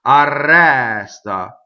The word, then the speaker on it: arresta: Arresta. Open E on the stress. Rolled R because it's double R.